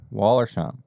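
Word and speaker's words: Wollersheim: say that Waller shine Waller like Morgan wallers Waller shim Wisconsin straight bourbon whiskey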